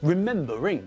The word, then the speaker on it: remembering: to visiting not visiting remember has got three syllables but again the stress is not at the end of the word but in the middle remember because of this when we add ing to remember it changes to remembering not remember the ring alright and all of